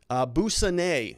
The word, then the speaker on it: Boussanet: Boussanet is how you say his last name.